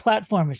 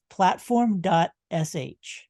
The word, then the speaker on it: Platform.sh: all like Tumblr but it's not platformish it's platform dot sh yes very very techy